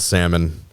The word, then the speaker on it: salmon: Yeah, you might as well just go ahead and pronounce the L and salmon.